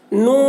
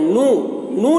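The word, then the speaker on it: نون: इसको नून ऐसे बोलेंगे कुछ लोग नू बोलते हैं न न नहीं है नून है नून न ऐसे वा व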